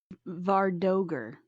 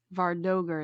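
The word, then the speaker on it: vardøger: the other yeah but those guys are uh vardoger vardoger is how it's pronounced apparently i looked it up but you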